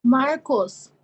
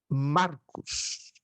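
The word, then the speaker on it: Μάρκος: Marcos. Exato. É um nome masculino. Marcos.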